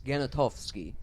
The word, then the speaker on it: Genitowski: The traditional German pronunciation is a hard G. It's Genitowski. Genitowski.